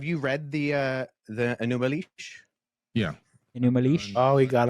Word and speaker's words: Enūma Eliš: enish um have you read the uh the anumal yeah new oh he got him with the pronunciation sure do you mind summarizing the the content of the creation account in the newal sure okay so he's about to summarize this